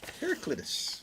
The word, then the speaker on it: Heraclitus: Heracletus. Thank you. Heraclitus select bourbon is here.